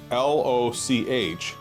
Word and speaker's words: loch: The word spelled L-O-C-H is actually pronounced loch. It's not loch in the same way we would say lake here in the US.